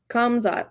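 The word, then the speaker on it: Khamzat: How do you pronounce his first name? Kamzat? Kamzat, yeah.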